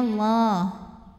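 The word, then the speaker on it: الله: Lam pada lafaz Allah atau lam jalalah dibunyikan secara tafkhim, sebab huruf sebelumnya ra berbaris dhammah. Maka cara bacanya lamnya ini tebal, bunyinya Allah.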